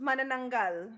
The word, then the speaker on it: manananggal: And it's pronounced manananggal. Thank you, beautiful. Because I banana is what it looks like to me with all the N's and A's.